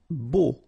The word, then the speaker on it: beau: Beau. Okay, so remember we've got this strange combination of vowels. A, U, so three vowels, but then phonetically it's only O. Okay, so beau.